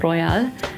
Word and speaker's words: Royale: be called royal or royale. I kind of like want to keep it pronounced as Royale. Royale Coco Royale because that's that would be the German pronunciation and that's how I